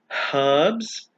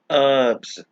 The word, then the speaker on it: herbs: American English this is pronounced as herbs as well as herbs with a silent h the next word is